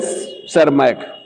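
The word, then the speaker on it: Tschermak: De Vries Hugo de Vries and सेरमैक, PSP silent है, PSERMACK, ठीक है, ह्यूगो डिवरीज एंड सेरमैक।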